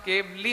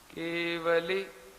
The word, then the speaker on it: केवली: बोलिए केवली बोलने पर जो बीच का व है वो आधा हो जाता है और ल में बड़ी ई की मात्रा माने केवली हो जाता है वह तो गलत है तो मैं उसका उच्चारण बोलता हूं सुनिए आप केवली ये उसका उच्चारण है केवली पंडतों धमो ऐसे बोलिए उसको आप आ गया समझ